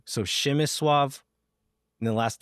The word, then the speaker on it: Przemysław: So the first name, it's spelled like Przemysław, but the PRZ sound makes the sh sound in Polish. So Przemysław, and then the L is a W. So Przemysław, and the last name Płacheta.